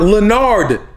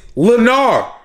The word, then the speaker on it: Lennar: o is silent leonard my name is not leonard it's lennar more like lanier oh whoa esteban chill